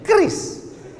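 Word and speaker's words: QRIS: Q ris cara bacanya gimana sebetulnya? Kris. Q-nya quick. Quick artinya cepat. R-nya respons. Kris quick response code.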